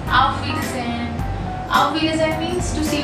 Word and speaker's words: Auf Wiedersehen: The pronunciation is Auf Wiedersehen.